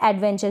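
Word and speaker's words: adventure: एडवेंचर, क्योंकि आधे न का साउंड आ रहा है यहाँ पर, अगर आप इसको प्रोनाउंस कर कर देखेंगे। और ये लास्ट में चर।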